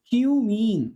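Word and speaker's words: cumene: ये बेटा और कुछ नहीं बोलना है ना, इसका प्रोनाउंस है ना, अच्छे से नाम लेना, क्यूमीन, क्या बोल रहे हैं, क्यूमीन, ठीक है, और कुछ नहीं बोलना है, ठीक है।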